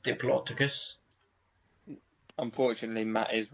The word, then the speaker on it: Diplodocus: It's pronounced Diplodocus.